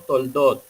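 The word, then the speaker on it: תולדות: Entonces, cuando unificamos esta letra, la pronunciación se puede dar como Toldot, que significa o genealogía o ascendencia, o también puede significar la historia.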